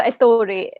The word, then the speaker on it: Ettore: So you have a character, Ettore. Is that how you pronounce it?